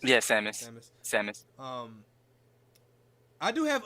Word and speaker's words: Samus: Seamus? Yeah, Samus.